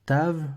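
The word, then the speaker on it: תו: caractères romain ou phonétique vu que c'est un V certains maintenant prononce staff lever devient un f un peu comme en allemand mais généralement pour le biblique tout ça on garde le taf ou même des fois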